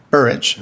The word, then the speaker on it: Burridge: Am I pronouncing your name correctly? Burridge. Burridge. Yes, Senator.